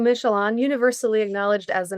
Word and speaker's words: Michallon: Yes, so last name Michelon, universally acknowledged as a name that is absolutely impossible to pronounce.